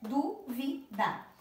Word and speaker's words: dúvida: Já a palavra dúvida, vocês perceberam que tem três sílabas, né? Duvida. Começando de trás para frente, é a primeira, é a primeira sílaba, né? De trás para frente, ela é a última, a penúltima e a antepenúltima. Então, a antepenúltima é a du.